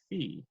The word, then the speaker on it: phi: I've heard students pronounce Phi as the arm linguistically that's actually probably correct I believe Greek pronunciation would be fee but then Greek pronunciation